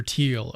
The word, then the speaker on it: Thiel: So, someone mentioned in the comments that I'm mispronouncing his name. It's Teal, not Teal. Peter Teal.